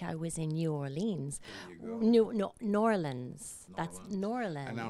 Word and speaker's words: New Orleans: whole song we have to say it right New Orleans very good yeah and the song that I had it's called ole ole N'awlins and it's got a nice core saliva course